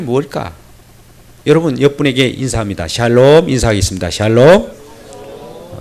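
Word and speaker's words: שלום: 하나님께 불렀답니다 평가 이 뭘까 여러분 여러분에게 인사합니다 샬롬 이사 하겠습니다 샤일로 또 발음 이상한 분이 계세요 살롬 그런 분이 계시네요 샬롬 다시 없다 샤일로 예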